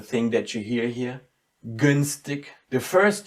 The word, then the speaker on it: günstig: Günstig. The first G is very distinct and it's very soundy. And the last one, in the very end, again loses its softness and it gets like a K.